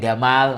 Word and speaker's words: Gamal: E atau istilahnya Gamal. Kalau dalam ee ejaan orang Mesir jadi apa? Gamal. Gamal. Karena Jim jadi ga.